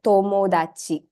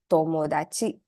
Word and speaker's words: tomodachi: It's not THA, but the sound when you pronounce it is actually the softer THA sound. Okay, so it's ta. So words like tonari, for instance, right? Tonari and tomodachi. So these two words, it's tonari, tomodachi.